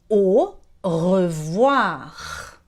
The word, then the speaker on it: au revoir: Então você vê que o AU ali no final do Renault tem som de O.